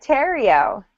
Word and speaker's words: Terrio: He's David Terrio. Rhymes with stereo.